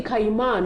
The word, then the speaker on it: Kayima: I was like, oh, you're actually Kayima, not Kayima. Because that's how Jagero was pronouncing it.